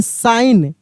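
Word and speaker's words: sign: [गला साफ़ करने की आवाज़] जी साइलेंट रहेगा। जैसे एस आई जी एन क्या पढ़ेंगे? साइन साइन हम लोग लिख करते हैं साइन ना साइन।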